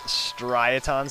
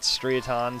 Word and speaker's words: Striaton: And actually, I think it's pronounced Striaton City, not Striaton, Striaton City, so yeah.